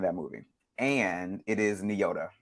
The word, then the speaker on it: Nyota: her name in that movie and it is nyota n-y-o-t-a nyota Uhura yeah okay okay girl read the